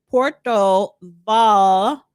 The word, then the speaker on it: Puerto Vallarta: Um um Kataliya says the double L is pronounced like a J.